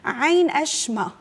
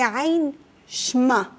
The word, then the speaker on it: عين شمة: عين أشمة، هي عين شمة.